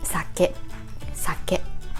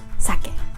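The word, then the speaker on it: 酒: japanese has five vowels so consists of s and a sound and k consists of k and this is always a and this is always a sake but not sake can you tell the difference so when you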